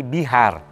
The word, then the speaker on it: Bihar: Dan sekarang ada provinsi Bihar, itu dari kata Bihara. Bihara A pendeknya nggak dibaca jadi Bihar.